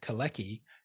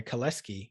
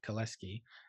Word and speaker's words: Kalecki: seeing other things, there's Kalecki, who had the same ideas as Keynes, but sorry, Kaleski, he's Polish, that's how you pronounce it, Kaleski, had the same ideas